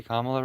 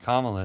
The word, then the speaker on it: Kamala: Didn't I say Kamla right? Kamla. If you've heard people say Kamala a lot, it's because they're racist. But Kamala is how you say it.